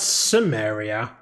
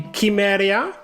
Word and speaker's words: Cimmeria: do they pronounce that Samaria they were very adamant of saying the salukit empire during their voiceovers and then they hear they say simaria shouldn't it be kimeria like what the hell